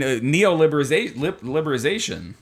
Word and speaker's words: neoliberalization: I mean, neoliberalization. I think you're missing a syllable. No, it says Oh, you're right. Neoliberalization. Yes, there we go.